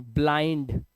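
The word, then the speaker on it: blind: जब आई के बाद एनडी या एलडी आए तो आई को आई से ही पढ़ेंगे। जैसे देखो ब्लाइंड, माइंड।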